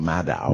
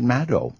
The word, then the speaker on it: Maddow: Everybody calls her Rachel Maddow.